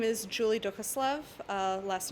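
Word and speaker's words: Duchoslav: good maker now so my name is julie dukaslov last name is spelled d-u-c-h-o-s-l-a-v and i'm a technical writing student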